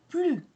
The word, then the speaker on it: plus: et un sens positif lorsqu'il s'agit d'un sens négatif on ne prononce pas le S on prononce plus par exemple Alex a